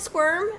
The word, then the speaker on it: Squirm: And I also, would you talk about Squirm? Am I saying it right?